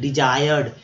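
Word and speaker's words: desired: तो डिजायर ठीक है, डिजायर्ड, लेकिन बोलते समय थोड़ा सा इसको थोड़ा सा महीनिया कीजिए, डिजायर्ड, वांछित, ठीक है, डी जा, यहाँ पर आई का उच्चारण जो है आई के रूप में हुआ है, ठीक है।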